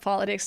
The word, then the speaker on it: politics: politics it's pronounced Politics the T in this word cannot be pronounced with a fast d not politics but politics why because there's a stress after the tea it's a secondary stress politics if there's a stress after tea we don't pronounce it like a fast te with words like water